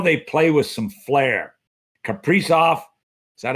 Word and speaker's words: Kaprizov: Kaprizov, is that how you pronounce his name?